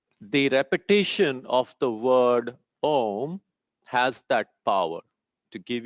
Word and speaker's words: Om: how do we say om how do we say um normally we end up saying om right so om comprises of three syllables mahesh has another word